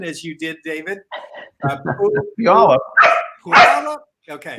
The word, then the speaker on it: Puyallup: First, Deanna is correcting me on my pronunciation, as you did, David. Puyallup. Puyallup? Okay. It's Puyallup.